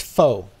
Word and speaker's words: faux: real rock yeah that's that's a French word it it's faux so it's faux faux rocks yeah that's why I